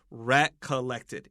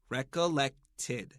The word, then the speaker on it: recollected: Recollected. And this ed is id. Recollected.